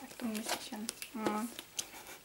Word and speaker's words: Akdong Musician: I could have just that's how you pronounce it. Akdong Musician.